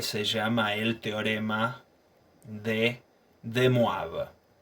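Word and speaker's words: De Moivre: llama el teorema de demoraba se escribe de mover sí pero es un apellido francés y se menciona demoraba supongamos que tenemos dos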